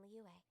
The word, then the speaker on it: Liyue: Oh, Liyue, that's how you say it.